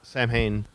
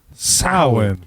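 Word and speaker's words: Samhain: board and it's s-a-m-h-a-i-n and Dr Loomis says Sam Hayne lord of the Dead that kind of thing you watch Ghostbusters and they say it's Sam Hayne and the pumpkin guy and he rules Halloween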